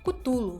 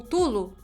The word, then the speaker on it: Cthulhu: antiga em hibernação chamada cutulo ou tulo ou kutulu enfim não importa porque essas pronúncias são apenas o mais próximo que o aparelho vocal humano consegue reproduzir já que seu nome